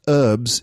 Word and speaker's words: herbs: the word herbs okay herbs pronounced herbs in british english and pronounced herbs in american english a herb is a